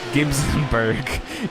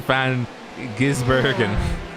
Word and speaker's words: van Gisbergen: said it wrong again it's not the van it sounds man gibsonburg it's van gisbergen you said